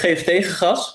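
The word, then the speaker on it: Geef Gas: It's Give Gas, which is exactly what you're saying, so that's nice.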